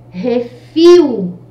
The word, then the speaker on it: refil: no final agora né refil refil então fio é a última sílaba forte Ela é uma palavra oxítona Ok então sílaba tônica